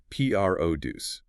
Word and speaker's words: produce: The verb is P R O D U C. The noun is P R O duce. You make that first syllable, the P R O, slightly louder, slightly longer in duration, and higher in pitch.